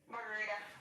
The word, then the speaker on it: Margarida: Margarita. Margarita. That's a great name. Can you spell it for me? Margarida.